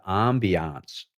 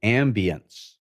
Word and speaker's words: ambiance: So in my book, it's all about creating the ambiance or the ambience, if you prefer French or English pronunciation.